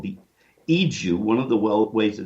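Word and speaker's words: Igo: It's called the Iju. One of the ways that it's spelled is I-G-O.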